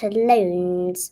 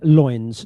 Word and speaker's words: loins: and queen from fall loans of these two foes. A pair of starcrossed lovers take their life. Yeah. Not bad. Yeah, loins, not loans.